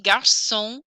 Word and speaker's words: garçon: Garçon. No N.